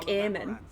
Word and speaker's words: Eamon: How long you've been gone from court, Eamon? Don't you recognize? Oh, and he pronounces it more like Aemon.